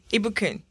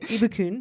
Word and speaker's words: Ibukun: Ibukun. Ibukun, I also go by IBK. I saw that. So first I'm going to try Ibukun, right?